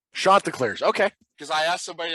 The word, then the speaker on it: Chanticleers: Pronounced Chanticleers. Chanticleers.